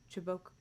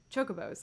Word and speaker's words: Chocobo: to do with airships in calvary chickens called chibok oh my gosh why am i doing how to say it chocobos there we go choke i wanted to like